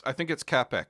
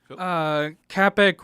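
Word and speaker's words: Čapek: I think it's Capek. I think there's a hard C.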